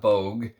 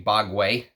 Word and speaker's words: Bogue: how you pronounce that it's not Bogue it's actually bogway and um this is